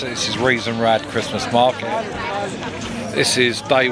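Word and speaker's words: Rathaus: Right, just to let you know this market is Reason Rad and good authority that's the correct way to pronounce it. This is Reason Rad Christmas Market.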